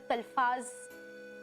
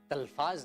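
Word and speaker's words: तलफ़्फ़ुज़: बट वही pronunciation, मेरा तल्फाज खराब है थोड़ा सा। बस इतना ही बोलना था मुझे। ये तल्फाज नहीं है, तलफ़ुज़ है।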